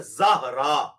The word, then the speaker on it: زہرا: بڑے آسان ہے، اور یہ وہی نام ہے جس کو کسی زمانے میں لوگ زورا بولتے ہوتے تھے، وہ زورا لفظ غلط ہے، یہ لفظ ہے زہرا، ZAHRA، یہ رکھ۔ انجینئر